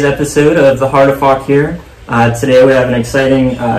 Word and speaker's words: Fauquier: like a mug that says it's Fauquier, it's pronounced Fauquier, so just like fun things that are local and whatnot, and even little onesies and toddler shirts that say made in Fauquier.